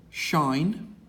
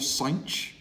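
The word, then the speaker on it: sinh: of the hyperbolic functions this one is pronounced either shine or sign doesn't matter depending on whether you prefer the sounds or whether you prefer the H being in its appropriate place and shine of X which is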